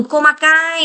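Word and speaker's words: 細かい: từ khác là từ komakai nếu m thừa Cai ra ngoài thì là komakai này đúng không hay là nếu m thừa y ra ngoài thì đọc là hô sôi đó đúng không ạ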